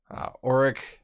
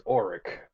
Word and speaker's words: Orrak: Orrak would actually converse with me and meet with me every once in a while.